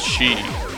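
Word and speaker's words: 四: Because it's pronounced, or it can be pronounced as she, which is the same as dead.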